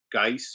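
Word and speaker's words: Guice: and butch uh butch geiss or whatever yeah butch juice is how i always pronounce it he's an old superman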